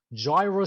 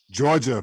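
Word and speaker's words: Jorja: Jaira Smith. Georgia, fool. Oh, that's how you say it? Georgia? The British one. Wow. I've said it wrong.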